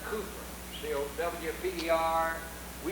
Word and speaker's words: Cowper: a great song of William Cowper in England they pronounced that Cooper WPD are we pronounced